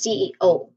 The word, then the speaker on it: CEO: We say it as CEO. Pronounce the the primary stress is an O.